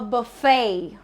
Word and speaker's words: buffet: The T is silent and it's buffet. The right way to pronounce it is not buffet, but buffet. So the stress is on the second part, buffet.